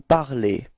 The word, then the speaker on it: parlez: And it's pronounced e, okay? So you should pronounce e, alright? So you'll get vous parlez.